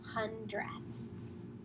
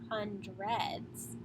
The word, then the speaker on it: hundredths: When I'm talking about decimals or fractions, I am saying that THS sound at the end. It is not hundreds. That's a totally different thing. So you do not say hundreds. It's hundredths.